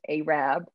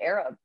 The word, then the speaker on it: Arab: arab um alabama which arab but it is pronounced arab uh and i will say i was going around town calling it arab for at least a week and everyone was